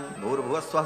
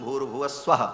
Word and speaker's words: भूर्भुवः स्वः: तीनों को जब एक साथ उच्चारण किया जाता है तो ओम भूर्भुवः स्वः ऐसा हो जाता है। विसर्ग को र हो करके और फिर वो र ऊपर चला जाता है तो भूर्भुवः स्वः ऐसा उच्चारण होता है।